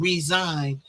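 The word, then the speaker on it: Ryzine: And they it it's an ad for an imaginary medication called resign, but it's spelled R Y Z I N E.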